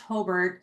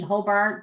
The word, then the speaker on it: Hobart: Um and um it's it's pronounced Hbert, so it I know it sounds like it's would be Hobart, but I'd have to correct that or the Brickies would not be happy with me.